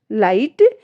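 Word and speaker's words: light: नाइट हाई thought लाइट क्योंकि इन सारी ही spellings में जी एच जो हमारी है वो साइलेंट है और ये रूल्स के अकॉर्डिंग है।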